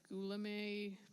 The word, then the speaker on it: Guillaume: I'm Guillaume. Thank you. I'm sorry I mispronounced.